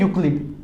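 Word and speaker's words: Euclid: और यहां पर ये जो ई है ना, ये साइलेंट है, तो इसलिए हम इसको बोलते हैं यूक्लिड, ये मैथमेटिशियन का नाम हो गया।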